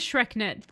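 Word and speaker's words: SchreckNet: No, that is how it's said. So it is said as Shreknet.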